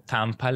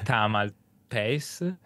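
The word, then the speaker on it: Tamalpais: ci riesco mai perché io l'ho sempre pronunciato tampal in realtà è tamal pa il nome di questa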